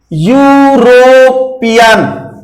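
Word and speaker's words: European: हम ये सिखाया जा रहा है कि यदि उसका उच्चारण व्यंजन से है, देखें उच्चारण यू आ रहा है, यूरोपियन।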